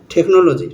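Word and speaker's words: technology: যেমন টেকনিক্যাল টেকনিক্যাল এখানে সিচ আছে একসঙ্গে সি এর পরে এইচ আছে এখানে এইচটা সাইলেন্ট হয়ে গেছে তারপর আছে টেকনোলজি টেকনোলজি এখানে সিচ একসঙ্গে আছে এখানে এইচটা সাইলেন্ট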